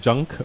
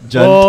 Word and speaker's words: Jund: Isn't it Junk? Jund. Hey man, J-U-N. I like to play Jund, the Jund deck. And D is Jund.